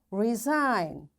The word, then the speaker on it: resign: G is silent when it comes before N. Its examples are design. Now, after G, N is there, so we don't pronounce this G. This is silent. Foreign, sign, align, resign, assign, rain, clone, and campaign. In all these words, because after G we find N is there, that's why we don't pronounce this G and we directly switch to N and we say design.